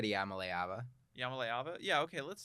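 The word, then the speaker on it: Iamaleava: I think you said Yamaleava.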